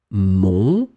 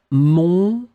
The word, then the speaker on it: mon: homonyms, we're talking about words that will be pronounced exactly the same way, mon, but they will be written differently because they are different things. Mon.